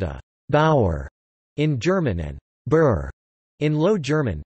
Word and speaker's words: Bur: A peasant is called a Bauer in German and Burr in Low German, pronounced in English like Boer.